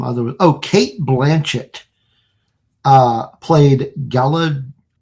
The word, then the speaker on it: Galadriel: Oh, Kate Blanchett played Galadriel. Am I pronouncing that right? Galadriel. Yeah, the Elven co-ruler of Yeah, I don't know.